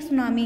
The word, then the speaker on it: tsunami: अब ये लिखा आपका टी सुनामी है, लेकिन टी साइलेंट होता है, इसको हम सुनामी ही प्रोनाउंस करते हैं।